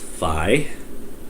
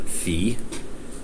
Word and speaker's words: Fi: um the sword girl in Skyward Sword is pronounced Fi not fe uh those cute characters in Japan like Hello